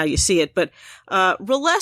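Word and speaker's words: R'lyeh: go with that and I apologize I've always pronounced this Riley which is not right at all but that's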